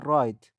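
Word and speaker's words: write: هرگاه در آغاز کلمه قبل از حرف آر بیاید تلفظ نمی شود. اگزامپل مثال ورک. ورک کار کردن. ویندو. ویندو کلکین. وای چرا. هو کی. وب شبکه. رایت.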